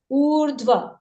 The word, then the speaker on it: ऊर्ध्व: है व के ऊपर लेकिन इस र को इस उ के बाद बोला जाएगा और फिर ध और फिर व का उच्चारण किया जाएगा उर्ध्व रेफ जब भी हमको